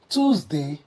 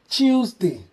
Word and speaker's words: Tuesday: it, or kindly say Tuesday, the way the British will pronounce this. Well, in British English, the T softens to a CH sound, reflecting a chi sound.